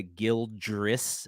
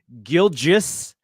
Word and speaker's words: Gilgeous: Do you know how hard it is to not say Gildress when you say his name? It's incredibly easy. Say Shea Gilgeous Alexander.